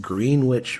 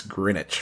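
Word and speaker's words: Greenwich: a minute ago you you called it green witch Village is that what it is did I say it wrong no you did say it wrong no you did say it really wrong it's greinwich Village well oh well Google says green witch yes that's how it's spelled oh so it's it doesn't sound like it's spelled my bad sorry everyone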